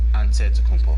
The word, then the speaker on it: Antetokounmpo: jana's antetokounmpo's last name he helped set the record straight of how you pronounce in the it way you gotta say with the d so it's a deadpool but in the greek way you say with the nt like antetokounmpo whatever you got just